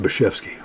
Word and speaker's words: Bashevsky: But his name was spelled, it looked like, but it was actually pronounced Bashevsky.